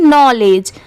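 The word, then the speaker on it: knowledge: हुआ है बट नहीं यहां पर पढ़ते टाइम के साइलेंट होता है इसे सिर्फ क्या पढ़ा जाता है नॉलेज के एन ओ डब्लू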